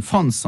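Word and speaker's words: Franz: la France et l'Allemagne France je le prononce à l'allemande dans l'entre de guerre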